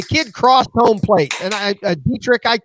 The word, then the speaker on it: Dietrich: I knew when the kid crossed home plate, and Dietrich, his name's spelled weird. I think it's Dietrich's how you pronounce it.